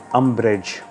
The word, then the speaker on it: umbrage: आपको रोष है, आपकी किसी बात की नाराज़ी है, तो आप अम्बैरेज में हो. Antonym is जॉय and happiness. Pronunciation अम्ब्रेज, अम्ब्रेज.